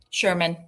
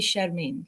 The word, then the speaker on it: Shermin: It's supposed to be an accent that's lacking in the English language. It should be Shermin, more like a flower, less like a guy.